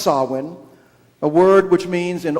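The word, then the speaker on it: Samhain: harvest festivals particularly sawin spelled s-a-m-h-a-i-n and pronounced sawin a word which means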